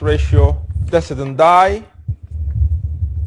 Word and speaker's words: ratio decidendi: is what's known as ratio decidendi or sometimes pronounced ratio dese's and i and obiter dictum thing